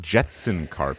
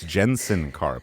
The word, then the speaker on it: Jensen Karp: Well, first of all, it's not Jetson Karp. It's Jensen Carp, which I already said that.